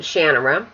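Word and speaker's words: Shannara: sort of Shan of shanara or as Terry pronounced it shanara so this is the second book in The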